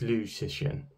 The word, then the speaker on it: Liu Cixin: It's a Chinese name, so the first name is pronounced second, so it's Liu Cixin.